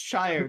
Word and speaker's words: Shire: don't no they live in the Shire it's pronounced Shire despite you saying it if it was a